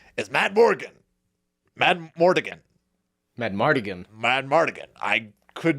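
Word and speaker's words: Madmartigan: It's 1. Mad Mardigan. In Yeah, my Mad notes, Mardigan. I literally just called him Val. 4 syllables.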